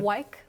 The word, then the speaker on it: Weik: Wyke, like Wyke. See, Wyke, okay. I said more weak.